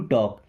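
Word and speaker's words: talk: नहीं want means चाहता टू टॉक। टॉक word में एल साइलेंट।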